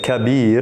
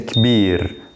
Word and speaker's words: كبير: So instead of saying kabir, I'm just saying kbir, كبير.